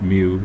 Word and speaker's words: mu: I mentioned this is a Greek symbol pronounced mu Etc so if FS is